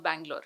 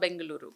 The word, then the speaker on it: Bengaluru: let's call it Namma Bangalore. Okay. I said, no, that's not how you say it. You say it Namma Bengaluru.